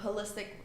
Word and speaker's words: holistic: So holistic, just like you do it with the H. You mean like There's- holistic? Holistic? Holistic, yeah, like whole.